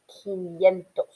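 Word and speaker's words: quinientos: the next slide and don't forget that 500 is pronounced kiniento okay so go ahead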